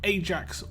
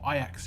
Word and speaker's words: Ajax: and he is called Ajax or Ajax. It really depends where you're from in the world, how you pronounce that.